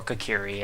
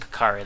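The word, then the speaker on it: Kokiri: live here with me or kakiri I pronounce it kakari though each kakari has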